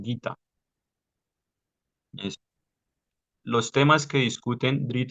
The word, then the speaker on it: Gita: que se me pasó la g se pronuncia como si tuviera una u siempre Al lado por eso no es gita sino gita los temas que discuten